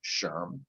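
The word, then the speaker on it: SHRM: and the society for human resource management that's pronounced sherm at mercer she focuses among other areas on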